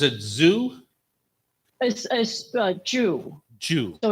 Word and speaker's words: Zhu: Zoo as as uh Jew so it's pronounced like Jewish yeah true okay true